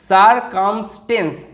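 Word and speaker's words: circumstance: এটার উচ্চারণ অ্যান্স এরকমভাবে হয় না, কিন্তু এখানে দেখো যে ভাওয়েল কনসোনেন্ট আছে, অতএব এখানে এর অ্যা সাউন্ড করব এরকম কিন্তু নয়, এখানে এর কিন্তু এ সাউন্ড হবে। কারণ কি, কারণ এটা একটা ওয়ার্ড প্যাটার্ন। তো এইটার সাথে সারকামসড, টি এর জন্য সারকামসড, তার সাথে যদি এন্স যোগ করে দিই ANCE, কিরকম উচ্চারণটা হচ্ছে এন্স, এন্স, তাহলে উচ্চারণটা কীরকম হচ্ছে, সারকামস্টেন্স।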